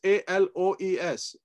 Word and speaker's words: aloes: It's A-L-O-E-S. You can't see aloes. It. Aloes. Aloes. Yeah. Yes. Which is like aloe vera, no?